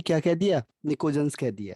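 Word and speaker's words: pnictogen: PNICOGEN, इसमें P silent रहता है, निकोजेंस।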